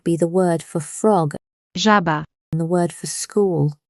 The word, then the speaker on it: żaba: Z with a dot above it sounds like the S in measure or pleasure, a buzzing voiced sound.